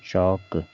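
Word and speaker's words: chalk: एल से हो गया, एल को देखिए यहाँ साइलेंट है, एल को हमें नहीं पढ़ना है, चौक, यानी कि एल जो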